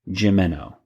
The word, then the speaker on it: Gimeno: And I've been told by, I believe it was Curtis Finley, one of our listeners, that it is pronounced Alfred Gimeno because his wife used to work with him in some aspect.